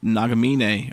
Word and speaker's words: Nagamine: Oh yeah, and even you were talking about Dr. Nagamine, or is that how you pronounce it? Yes.